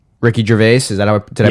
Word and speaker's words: Ricky Gervais: It's Ricky Gervais. Is that did I pronounce that right? Yeah. So it's Ricky Gervais, and his wife dies, and the humor of the first 4 episodes is Yeah.